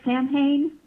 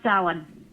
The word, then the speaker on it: Samhain: It looks like Samhain, but it's pronounced Samhain.